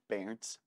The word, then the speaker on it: Berndt: Berndt or Brent? It's actually Berndt, but Berndt is great too. Berndt. I got my German parents are in my ear, like, get the pronunciation right.